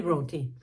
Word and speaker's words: Brontë: Eu botei para ouvir aqui no Google Tradutor, eu acho, para ouvir a pronúncia e é assim que eu digo, Emily Brontë.